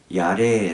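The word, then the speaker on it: יָרֵא: 경외 함이 얻습니다 이 단어는 히브리어로 야 래 라고 발음하는 남성 영평 용사 인데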